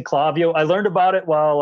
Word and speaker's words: Klaviyo: So I just pronounce it as it is in Spanish. So, but then I talked with Klaviyo and I watched some of their videos, and I'm like, oh, it is Klaviyo.